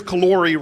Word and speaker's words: Calori: What I love about him is Chris Calori rhymes with Corey.